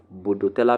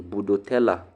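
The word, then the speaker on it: Bordetella: Bodoella ptosis. Bodoella is spelled B O R D E T E L L A. Budotella. Ella. Ella. If your name is Ella, budella ptosis.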